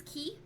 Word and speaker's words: Quay: a normal person um queen's key is another one queen's key is written queen's q-u-a-y queen's quay quique again people will laugh at you and be